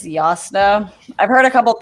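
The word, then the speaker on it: Jasnah: been pronouncing the j so when i read the book the first time i also did jasna but also in the audiobook i think it's yasuno i've heard a couple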